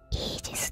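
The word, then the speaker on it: Aegis: られていますアイギスは英語表記ではイージスと読み僕に関わるシステム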